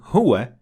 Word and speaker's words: هو: and hiya, which is when stopping at them, you should not pronounce the fatha on top of the waw or the ya. So you should say La ilaha illa hu.